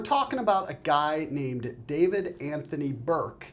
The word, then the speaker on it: D4vd: to this guy as D4 VD Anthony Burke. He he apparently goes by he says it is pronounced David but D4VD is also an acceptable pronunciation.